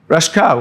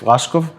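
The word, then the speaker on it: Raschkow: another factor is the plexus of rashka or if we adopt the German pronunciation because he was actually German plexus of rashkov anyway uh if you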